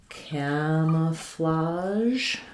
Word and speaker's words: camouflage: We stress on the first syllable cam, and the letter A has the A, like in cat. So it'll sound like camouflage.